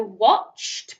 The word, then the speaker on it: watched: Remember, we don't say ed, do we? We pronounce it sometimes as d. So watched, past tense of watch. Oh, that's a really hard